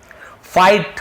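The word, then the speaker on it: fight: फाइट, फाइट यानी लड़ना, यहाँ पर भी जी साइलेंट है, फाइट बस पढ़ेंगे, ठीक है, फाइट यानी लड़ना।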